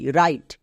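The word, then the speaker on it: write: ডব্লিউ কখন silent থাকে এর ক্ষেত্রে খুবই সিম্পল নিয়ম আছে ডব্লিউ এর পরে যদি আর থাকে তখন ডব্লিউ সাইলেন্ট থাকবে ডব্লিউ এর পরে আর থাকলে ডব্লিউ সাইলেন্ট যেমন দেখো নিচের প্রত্যেকটি ওয়ার্ডে ডব্লিউ এর পরে আর আছে তাই ডব্লিউ সাইলেন্ট যেমন আর আই টি ই রাইট আর ও এন G wrong R এফ রাব তাহলে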